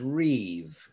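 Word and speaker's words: ריב: the hebrew word for this is reeve it's written r-i-b but the second letter of the hebrew aleph bed that's the bet of the aleph bed is under only under circumstances certain circumstances isn't pronounced b otherwise it's pronounced v or if you're in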